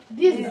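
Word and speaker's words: these: অনেকে এটার উচ্চারণে বলে দে। দেস বলে দেস।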